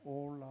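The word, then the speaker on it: עולה: 가볍게 생각할 내용이 아니에요 번제는 히브리어로 올입니다 올라 한번 따라서 보실까요 올라 올라 우리말 올라간다 올라간다 이런 느낌이 드는 같은 발음인데이 는요 하나도 남기면 안돼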